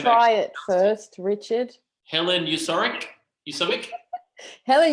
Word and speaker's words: Uskovic: Helen Uskovic? Helen Uskovic.